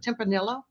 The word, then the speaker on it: Tempranillo: what this red wine is from how you pronounce it Tempranillo Tempranillo put Neos using d'espagne Spain absolutely nice